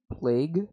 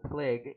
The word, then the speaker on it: PLAG: And isn't it pronounced plague? Well, no, it's not pronounced plague, it's pronounced PLAG, before I vomit on your face.